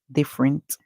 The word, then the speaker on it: different: about different is that in different the E here is silent so we hear the if because the two F makes the same sound then you would only make one sound for them so we hear D if